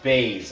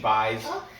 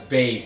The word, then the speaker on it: Buys: decision over jp bays it is pronounced base i'm sorry i keep saying byes that's how it's spelt phonetically but it's base jp bays cheyenne christmas